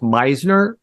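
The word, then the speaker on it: Misner: I believe his last name is pronounced Meisner.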